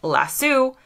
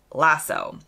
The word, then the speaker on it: lasso: in that moment that Brits and Americans say this word differently so again he said it and many Brits would say it lassu I would say it lasso the best information I